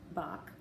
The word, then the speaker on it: Bach: time his great-great-grandfather Veit Bach pronounced by the way halfway between the sheep's bah and a dog's bark with the CH sounding as if you were trying to clear your throat was a baker who